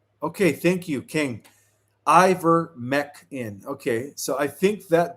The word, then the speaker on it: Ivermectin: So, it's pronounced Iver- mec in. Okay, thank you, King. Iver- mec in.